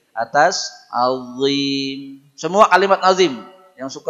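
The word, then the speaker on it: عظيم: Azim. Bukan ajim, bukan adim, bukan azim, azim. Ya, ujung lidahnya pastikan nempel di ujung gigi seri atas. Azim.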